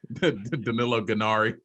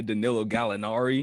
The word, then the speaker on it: Gallinari: You kind of butchered my boy's name, Danilo Gallinari. What did I say? Danilo Gennari.